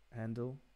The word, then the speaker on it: Handel: people mainly, like Mozart, Handel, I guess is the English pronunciation. Mozart, Handel, and one more.